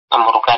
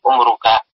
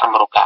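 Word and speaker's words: عمرك: Amruka di sini sebenarnya dari umruka. Mirip-mirip itu ya. Tapi maksudnya, dalam sebuah kitab saya baca, ini lebih tepat dibaca amruka. Ya, orang Arab membacanya amruka.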